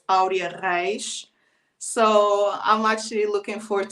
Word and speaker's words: Aurea Reis: and it's spelled it's when you read the name is Arya rice so I'm actually looking